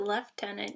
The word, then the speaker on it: lieutenant: the last tenant or lieutenant or however you pronounce it no Spence right from where do they pronounce it left-tenant bring yeah okay um